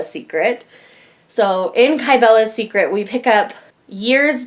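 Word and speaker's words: Cybele: secret but I found out later was actually pronounced kybella secret so in Cabela's secret we pick up years down the road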